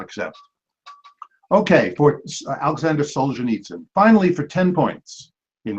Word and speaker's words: Solzhenitsyn: him so we will not answer Alexander Alexander Solzhenitsyn Solzhenitsyn the right sorry John pronunciation was too far off both times could not accept okay Alexander Solzhenitsyn finally for ten points in Russian literature this